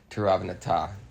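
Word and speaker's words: Tiravanija: It looks like Tiravanaja, but I think they pronounce it Tiravanata.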